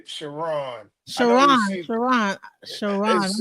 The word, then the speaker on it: Chron: the way it's spelled it's looks like it looks like K but it's it's pronounced shiron shiron okay wow so all